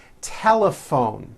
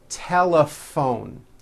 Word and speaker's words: telephone: in that word laugh telephone notice the pH combination in that word is also pronounced as an F telephone it's the same thing